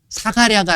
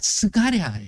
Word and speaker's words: 스가랴: 아들이 아니라 여호아 아들이에요 그게 이제 스가랴 사가랴가 아니라 스가랴 그니까 요게 약간 발음의 차이인 거야 근데요 내용이 그렇게 죽임을